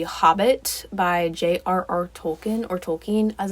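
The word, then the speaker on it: Tolkien: off of The Hobbit by JRR tolken or tolken as it's properly pronounced and so it's really actually a lot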